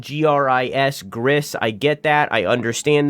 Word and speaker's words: Gris: It is pronounced Grease, by the way. It's not pronounced in any other way. I understand that it is spelled G-R-I-S, Gris.